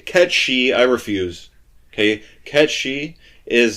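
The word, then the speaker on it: Cait Sith: it should including me K and K K Kat she I refuse okay Ki is not just in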